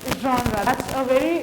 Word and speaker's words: genre: जॉनरा क्या होता है, जॉनरा को प्लीज डोंट प्रोनाउंस विद जेनरे या I don't know कैसे प्रोनाउंस करते हैं, it's called genre, that's a French word basically, so उसको जैसा था वो वैसे ही उठा लिया गया, those are called loan words, तो genre बोला जाता है।